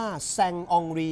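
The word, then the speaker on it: Saint-Henri: ทั้ง นั้น นะ ครับ ชื่อ ของ เขา ต้อง อ่าน ว่า แซง อองรี ครับ ไม่ ดราม่า นะ ครับ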